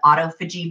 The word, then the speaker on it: autophagy: It's spelled like autophagy, but it's pronounced autophagy, where that can help us.